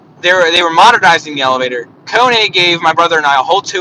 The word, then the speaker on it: Kone: And I remember, we're like, so you're from Kone, right? He said, wow, you're the first ones to pronounce the name of our company right. Most people say it's Cone.